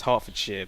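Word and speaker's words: Hertfordshire: Harfordshire, right? That's a thing. Well, it's Harford Shar, but I'm trying to halfway pronounce it in an American.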